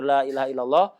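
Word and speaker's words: لا إله إلا الله: Jadi zikir la ilaha illallah, khususnya kalau bacanya benar, lamnya jadi lam, hamzahnya ditahqiq, haknya disukun, dibaca dengan benar.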